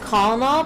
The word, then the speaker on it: colonel: But it says colonel, but they say colonel. Isn't that weird? It's a weird way to spell it.